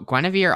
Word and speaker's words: Guinevere: then like but i'm i know i'm saying it right gwenevere because that's how they say it and once upon a